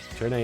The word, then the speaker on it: Turn A: Turn A is how you say the upside down A in the context of Gundam.